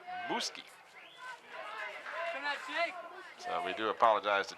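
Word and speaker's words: Muzquiz: It might be pronounced Musquiz, but in fact it is Muski.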